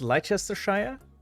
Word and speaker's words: Leicestershire: Shire is pronounced sheer in the UK.